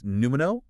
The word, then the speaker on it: pneumo: The first is numo. P n e u m o n with that silent P and pomo.